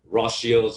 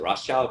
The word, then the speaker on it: Rothschild: Well, you have the Rockefellers across, of course, the Rothschilds, or I guess the American, we as Americans pronounce it Rothschild, but I believe the correct pronunciation, because it's German, is like Rothschild family in Europe.